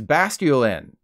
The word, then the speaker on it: Basculin: the office microwaving salmon it's basculine and yes that is the correct way to say basculine like masculine not masculine like Edward Cullen from Twilight